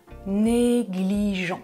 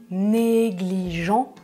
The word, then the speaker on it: négligent: troisième personne du pluriel je ne prononce pas -ent et numéro 2 Tom est un étudiant négligent je prononce -ent parce que c'est un adjectif, ça va ?